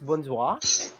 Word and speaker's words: bonsoir: word very good actually that is the exact pronunciation of that word it's bonsoir and the meaning of that it's either hello